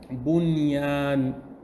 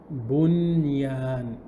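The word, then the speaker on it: بنيان: And the last word, bunyan. Bunyan. Is there Noon Sakina there? Bunyan. Ba, Dhamma, Noon Sukun, bun.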